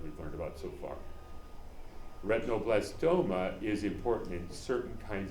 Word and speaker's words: retinoblastoma: Okay, so here's this protein, retinoblastoma is how it's pronounced.